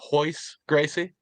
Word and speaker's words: Royce Gracie: That would be Royce Gracie. I know it's spelled with an R, but you know how those Gracies do. It's all the R first names are actually pronounced with an H.